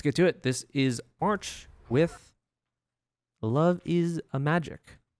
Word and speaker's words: MRCH: Next up, we're going to be checking out, I've been told March is how I could pronounce it. I was going to pronounce it Merch, but March, I suppose, who is a solo artist.